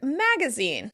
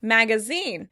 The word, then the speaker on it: magazine: Next, let's talk about the word magazine. In British English, the word would be stressed on the last syllable. Magazine. Magazine. In American English, the word will be stressed on the first syllable.